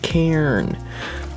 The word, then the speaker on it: Karn: And no, Karn is not pronounced any other way. Karn is pronounced Cairn. Like the furnace type thing, the cairn.